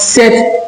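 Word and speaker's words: sept: be able to pronounce set in English. So if you can pronounce set in English is like saying seven in French but bear in mind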